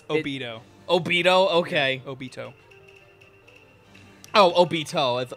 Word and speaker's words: Obito: Okay, chat, honestly, how is he actually supposed to be pronounced? It's Obito.